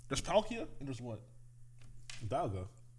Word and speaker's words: Dialga: Dialga. It's D. Dialga? Technically Dialga. Dialga? This one is less egregious. Okay, so Dialga, D-I-L-I-A? It's pronounced, it's spelled die, but it's pronounced D.